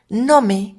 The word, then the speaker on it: GNOME: orgullosamente de origen mexicano nome que se escribe nome en que es gnome3 es un entorno de